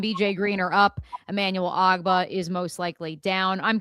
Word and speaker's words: Ogbah: How do you pronounce his name? Oh, who, Emmanuel Ogbah.